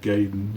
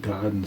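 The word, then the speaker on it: Gaiden: getting uh Ninja giden or I always said gayen I always called it Ninja gayen but until a couple years ago I started watching videos talking about the uh original NES game and everybody always pronounced it Goen so I was like well well I guess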